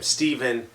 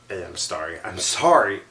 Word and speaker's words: Stefan: It'd be pronounced with a F sound, especially with the A there and everything.